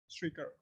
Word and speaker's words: Shrikar: One more person join, Shrikar. Yeah. Yeah, am I pronouncing correct, right? Sir, I didn't get you. Yes, sir. Okay. Yeah, I was saying like, is my pronunciation correct? Yes, sir, it is correct indeed.